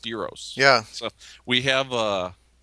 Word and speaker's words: gyro: say yeah and uh yeah they're not called Gyros it's pronounced Euros yeah so we have uh uh we have